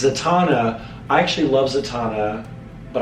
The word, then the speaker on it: Zatanna: Domino or, I don't want to mispronounce it, Zatanna? It's Zatanna.